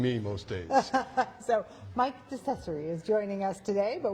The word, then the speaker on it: DeCesare: Or um it's accessory with a D. So it's decessory. If you see it written, it's decessory. But no one can say that, including me, most days. So, Mike Decessory is joining us today.